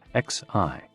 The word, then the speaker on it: xi: with the spleen and XI pronounced like she which connects the whole body the following poem by